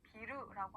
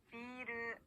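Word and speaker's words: ビール: 중간에 장음이 들어가는데요. 장음이 없이 비루라고 하면요, 빌딩이라는 뜻의 단어가 됩니다. 비루 그렇기 때문에 꼭 맥주를 얘기할 비루 때는 중간에 장음으로 길게 늘려서 발음을 해주셔야 되는데요. 같이 연습해 볼게요. 비르, 비루 비르.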